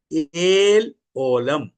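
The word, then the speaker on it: El Olam: यहां पर सनातन ईश्वर का जगह में मूल भाषा में लिखा है एल ओलम। क्या लिखा है? एल ओलाम।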